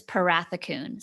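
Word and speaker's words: Pharathikoune: me how to spell it or how to pronounce it because so my maiden name is parathakun spelled p h a r a t h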